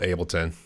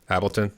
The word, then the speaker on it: Ableton: know the way this we in the states pronounce it it's called Ableton as I guess you're calling it Appleton or well maybe my